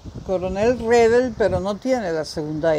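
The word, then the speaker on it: Redl: En realidad se pronuncia Redel. Coronel Redel, pero no tiene la segunda E.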